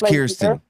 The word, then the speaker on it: Kirsten: with what ear ear so it's kirsten like kirsten dunst yes hell yeah is